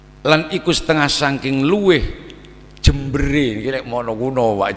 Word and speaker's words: Jember: Nah, kalau jember ini dulu itu sebetulnya jembar. Yang dimaksud itu jembar. Cuma kalau jembar dalam bahasa Madura itu diucapkan jember.